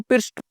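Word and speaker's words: pierced: इट पिर्स्ट, इसको पिर्स्ट पढ़ेंगे, इसको पिर्स्ट, PIRST, पिर्स्ट का प्रोनाउंसिएशन होता है इसका।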